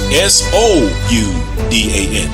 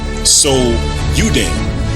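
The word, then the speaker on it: Soudan: However, the antiquity spelling was S-O-U-D-A-N, So-U-Dan, which is simply 2 words combined into one, So-U-Dan. Now, let's use Google Translate to look up the meaning of the words So-U-Dan.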